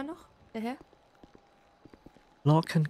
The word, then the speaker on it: Lorcan: Ja, wie spricht man das aus? Clayburn? Clyburn. Clyburn. Okay, und der Vorname? Lorcan?